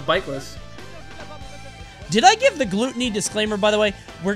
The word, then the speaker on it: Glutonny: It's Glutonny. That's what he's called. Glutonny. If you want to see Glutonny, it is spelled with two T's.